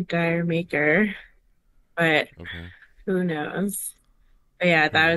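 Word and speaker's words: D'yer Mak'er: a big lead Zeppelin head how do you pronounce the name of that song I say dire maker but who knows yeah that was very I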